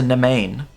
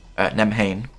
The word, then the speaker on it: Navan: As a Nevain, Navan. That's what it was. That's how you pronounce it. It's Irish.